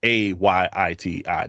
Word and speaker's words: Ayiti: The proper pronunciation for Haiti is IET, is AYITI, not HA.